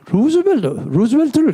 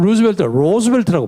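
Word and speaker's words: Roosevelt: 근데 이게 루즈벨트를 잘 모르고 하는 얘기예요. 미국 사람은 로즈벨트라고 발음합니다. ROO, 프랭클린 로즈벨트 이렇게 많이 합니다.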